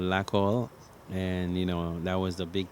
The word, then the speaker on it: Lakol: It means glue, Lakol.